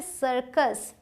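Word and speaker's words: circus: उसी तरीके से सर्कस। सी के बाद आई है तो स। सी के बाद यू है तो क सरकस।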